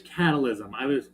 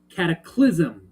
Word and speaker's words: cataclysm: That's right, catfish catalysm. Cataclysm, not catalysm, cataclysm.